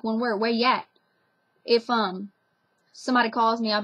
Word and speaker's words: Yat: And it's called that because they say yat instead of saying like, where are you at? Or where are you? You say where yat. Just like one word, where yat.